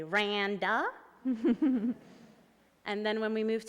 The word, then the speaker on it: Randa: So the Egyptians will say Randa, and the Palestinians will say Randa, and the British teachers at my school would say Randa.